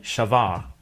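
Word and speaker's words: שבר: ሰበረ። The same third-person perfect form in Hebrew would be shavar. And in Hebrew, sometimes the second root letter, like a V sound, is doubled and pronounced like a B sound, which makes the similarity even more obvious.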